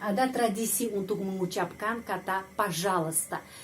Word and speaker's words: пожалуйста: Dan sudah ada tradisi untuk mengucapkan kata пожалуйста. Kenapa huruf I tidak dibaca? Ahli bahasa Rusia menjelaskan huruf I tidak dibaca hanya untuk memudahkan pengucapan.